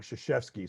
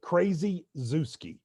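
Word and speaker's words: Krzyzewski: i i'm currently writing a story on mike shishevsky so i think that's the anti-kentucky story uh i did learn how to spell it to do that because uh the trick is crazy zeuski k-r-z-y z-e-w-s-k-i and uh i have bad news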